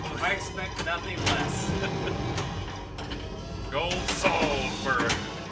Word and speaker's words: Salisbury: You gotta say it like the people around here, though. Salisbury. No, it's just Salisbury. There is no I in it. S-A-L-Z. Yeah, Salisbury. B-E-R-Y, not her.